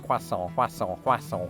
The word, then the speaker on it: croissant: In Britain with this word the French somehow convinced us to say that as quason. Now it feels weird that I'm saying it like that. In American they've just abandoned the French altogether with that particular word and they say croissant.